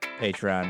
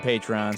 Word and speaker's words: Patreon: Consider saying Patreon more slowly and spell it out, Patreon. If you're going to make the ask, then make the call to action easy. Winky face," she wrote. I thought it was Patreon, P-A-Y. But no matches on the Google machine.